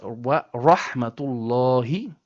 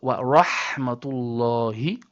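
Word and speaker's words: ورحمة الله: And then, the last ha in the word Allah is from the bottom throat. So, wa rahmatullahi and not wa rahmatullahi. No, or not even wa rahmatullahi. Not correct. We say wa rahmatullahi.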